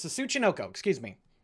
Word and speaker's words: Tsuchinoko: It's the Sunoichi, I think is how it's pronounced. I'm gonna look up Japanese snake Japanese snake cryptid. I think it's called Tsuchinoko. It's the Tsuchinoko, excuse me.